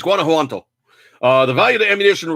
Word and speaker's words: Guanajuato: sporting ammunition was stolen in the state of Guanajuato. Guanajuato, I think that's how it's said. It's like Guana, and then the J, so Juanto. I think it's Guanajuato.